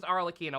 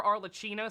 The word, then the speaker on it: Arlecchino: Her name is Arlecchino. I call her Arlecchino sometimes because it's spelled that way.